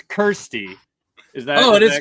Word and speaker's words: Kirsty: Kirsty. I've called you Christy for like a year and a half or 2 years, whenever.